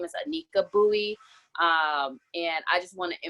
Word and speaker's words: Bowie: a quick little correction my last name is pronounced buoy but it's totally okay we live in Minnesota we all know David Bowie so usually say Bowie but my name is anneka Bowie and I just want